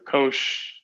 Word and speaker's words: cosh: And the hyperbolic cosine, which is sometimes pronounced cosh of y, is given by e to the y plus e to the minus y over 2.